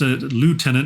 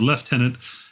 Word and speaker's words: Lieutenant: though uh the reader they used says uh pronounced Lieutenant instead of left tenant and had real trouble saying Saskatchewan properly but